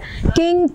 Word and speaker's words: किं: minute ब्रह्म कीम हां निकाल किंग किंग इसको पढ़ेंगे किंग इसको पढ़ेंगे किंग किंग किंग तदब ब्रह्म इसको पढ़ेंगे कि के ऊपर में च अनुस्वार है ठीक है कि तद